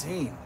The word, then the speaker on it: Sean: I even let my middle name Sean, even though it's pronounced Scene, like jeans.